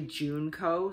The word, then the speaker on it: Junko: last week uh with junko faruda i'm sorry i've been mispronouncing her name it's actually juneco so i really do